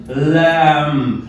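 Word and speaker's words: lamb: Phonetics से, इट इज लैम्ब, लैम्ब, लैम्ब। अब लैम्ब, this is नॉट लैम्ब। तो यहां पे जो ये ब साउंड है, आपको लगता है B, this is totally silent, it इज लैम्ब।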